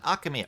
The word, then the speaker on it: Archimere: Asamere. How is that meant to be pronounced? Do elucidate me. Alright, the first time. Archimere. Oh! Okay, that was a big hill. Okay. Archimere. Archimere it is.